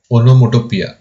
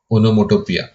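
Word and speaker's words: onomatopoeia: Of speech है ओनोमोटोोपिया देखो लिखा गया है एम ए बट प्रोनाउंस करते हैं ओनोमोटोोपिया ना ओनोमोटोोपिया फिगर ऑफ़ स्पीच तब यूज़ होता है जब कोई साउंड इंडिकेट करते हैं।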